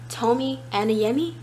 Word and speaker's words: Tomi Adeyemi: Tomi Adeyemi.